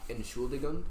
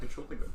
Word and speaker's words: Entschuldigung: Excuse me is I think Entschuldigung or something like that. Entschuldigung.